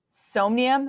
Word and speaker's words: Somnium: that would be Sandbox, Decentraland, Crypto Voxels, and Somnium. Am I pronouncing that right? Yeah, Somnium?